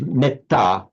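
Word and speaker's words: metta: Whereas in parley, because of that double consonant, it's pronounced with a short e.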